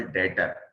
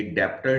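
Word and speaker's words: debtor: लिए, वो कहलाएगा प्रिंसिपल डेटर। ये डेप्टर नहीं होता, ये डेटर होता है, ठीक है, ये याद रखिएगा, ये भी साइलेंट होता है।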